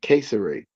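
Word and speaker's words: Cesare: They pronounced it Caesare. They Caesare, Mm. but we do say Caesar Borgia.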